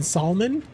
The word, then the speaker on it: salmon: This streamer pronounces the L in salmon.